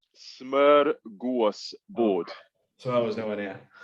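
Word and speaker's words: smörgåsbord: Go on, tell me how it's pronounced. Smorgasbord.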